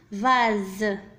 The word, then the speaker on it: vase: le S هنا نطق على أنه Z. نكتبه في الخانة الثانية. لماذا نطق على أنه Z وليس S؟ لأنه محصور entre deux voyelles بين حرفين متحركين. الحرف S دائما إذا وجد بين حرفين متحركين ينطق Z.